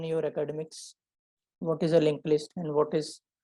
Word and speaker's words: linked list: It is spelled as linked, but in pronunciation it is called as link only.